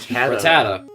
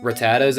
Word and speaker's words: Rattata: Rattata. Do you guys pronounce it Rattata, or as I pronounce it, Rattata?